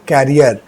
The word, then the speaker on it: career: ठीक है, लेकिन यहाँ जो वर्ड है वो फ्यूचर से रिलेटेड है, प्रोनाउंसिएशन भी डिफरेंट है और स्पेलिंग भी इसका डिफरेंट है। प्रोनाउंसिएशन इसका है करियर and spelling is CARER।